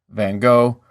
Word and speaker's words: van Gogh: learn neither of these are right and it may be something more like with each h gravelly and full of mucus that english speakers can't really manage so i'm going to ignore the film's pronunciation and go with what my listeners are more likely to be familiar with van gogh though often is not